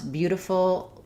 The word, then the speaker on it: beautiful: why sometimes people pronounce beautiful um beautiful like beautiful. Um yes. So, we typically do in American English. And that's because when we have a t in the middle of words followed by